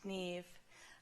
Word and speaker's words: Niamh: Niamh Power, yes, Niamh, pronounced Niamh, a common enough name in County Galway and not so unusual